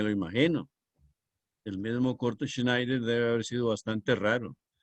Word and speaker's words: Schneider: se escribe con s Schneider e es un diptongo que en alemán suena Ay Schneider que significa sastre si